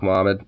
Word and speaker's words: Magomed: It's pronounced Muhammad. Oh, okay. Okay, so the G is more like a H-A type of sound, okay. Or I guess the G-O is more like a H-A, okay.